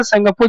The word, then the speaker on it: Tsangpo: संगपो, और बताया भी था संगपो जब लिखेंगे तो टी से लिखेंगे, TSANGPO, यहाँ पे टी साइलेंट होता है या संगपो ऐसे लिखते हैं।